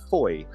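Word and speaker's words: Fowey: It's Saturday morning and I'm down here in Foy, I think it's pronounced, down in Cornwall, down here on holiday with my family.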